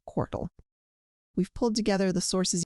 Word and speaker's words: QORT: And its native coin, q-o-r-t, is pronounced just like the word court.